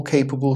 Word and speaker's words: capable: Now, a lot of you said C, to maintain an economy that allowed all capable citizens of ability. Again, pronunciation, not capable, capable, capable. Just want to emphasize that, common mistake, capable.